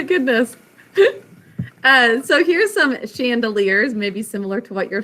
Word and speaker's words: chandelier: hanging in them okay so chandelier is a french word the sh sound is ch but you all sounded out with me chandelier three syllables first syllable